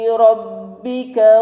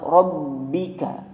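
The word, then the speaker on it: رَبِّكَ: Ada kata lafaz rabbika. Ingat ketika mau huruf ba tasydid itu, ba-nya harus tebal. Rabbika, bukan rabbika. Nah, itu salah.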